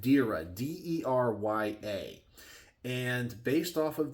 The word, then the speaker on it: Derya: So it's from a company called, I believe it's pronounced Derya, D-E-R-Y-A.